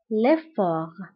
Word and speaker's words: effort: L'effort, أيضا, l'effort كنكتبها بالتاء في آخر الكلمة ولكن لا تنطق. L'effort.